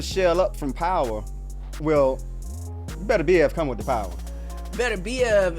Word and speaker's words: Beterbiev: I say it for real all the time, Beterbiev.